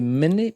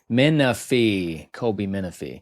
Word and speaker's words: Minifie: Colby Minifie. How do you say her name? Minifie. Colby Minifie.